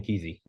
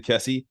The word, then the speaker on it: Kesey: Do you pronounce his last name Kesey? Is that am I saying it wrong? Yeah, it's Ken Kesey. Oh, I've been saying Ken Kesey my entire fucking life, dude.